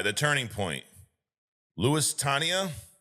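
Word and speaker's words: Lusitania: Lewis Tania.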